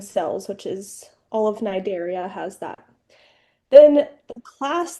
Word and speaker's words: Cnidaria: Um, their phylum is Cnidaria. So Cnidarians, so that first C is silent.